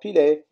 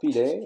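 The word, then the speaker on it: Pillet: French is une lait, therefore pilet, as opposed to pillé, the two L's pronounced as Y, as in Darius Milhaud.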